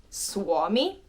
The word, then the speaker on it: Suomi: Next is U plus O, which a word containing this pair is Suomi, which means Finland. Suomi, uo, Suomi, Suomi, Suomi, Suomi.